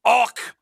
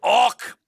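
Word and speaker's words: auck: For example, they awk from time to time. What? They awk. It's spelled A-U-C-K. If you're wondering.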